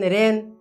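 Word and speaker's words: reign: e i g n rain g is silent okay here are a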